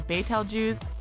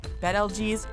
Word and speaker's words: Betelgeuse: is a contentious issue whether you know it as Betelgeuse bed LG's or simply Betelgeuse we're talking about that